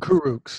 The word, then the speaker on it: Kurucs: veterans like Damari Carroll and even was it Kurucs? Is that how you pronounce his name? Kurucs, yeah.